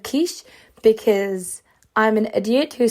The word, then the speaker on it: Kiss: Now, I did talk about this briefly on TikTok, and I pronounced his name as Kiss instead of Kish because I'm an idiot who sometimes does not pronounce things correctly, and I was quickly corrected twice.